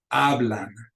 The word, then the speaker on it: hablan: Ends in an S, so the accent goes on the second to the last syllable. Hablan, hablan.